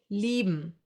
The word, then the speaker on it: lieben: I-E will be pronounced like a long, slow E, like for example in cheese. Another German diphthong. A few more examples for this sound would be lieben, to love, or Bier, beer.